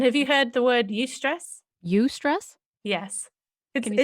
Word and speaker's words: eustress: And have you heard the word eustress? Eustress? Yes. Can you spell it? Yeah, it's spelled EU and then stress. Like European stress?